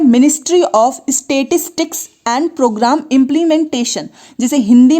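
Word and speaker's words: Statistics: सकते हैं, ministry of स्टैटिस्टिक्स। देखिए स्टैटिक्स नहीं है इसलिए मैं इसको लिख कर बता रही हूँ, इसका प्रोनाउंसिएशन भी आप देखिएगा, ministry of स्टैटिस्टिक्स and programme implementation.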